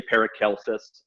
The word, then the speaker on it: Paracelsus: And to me, again, I go back to, I like the way Paracelsus puts it. And some people say Paracelsus, hard C.